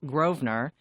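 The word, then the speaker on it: Grosvenor: Mayfair the Goring and Groen Earth Gardens which is pronounced groer these are all wonderful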